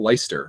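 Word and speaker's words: Leicester: for some reason in in the UK they don't pronounce like whole syllables of words yeah like that let that Lancaster or whatever it is like they don't they call it they call it leister or Lyster Lister's yeah I'm like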